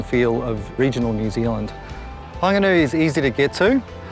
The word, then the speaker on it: Whanganui: I'm standing here by the Whanganui River and you'll hear me pronouncing Whanganui with a very soft hua sound rather than the traditional fa sound, and that's a dialect of the Te Reo in this region.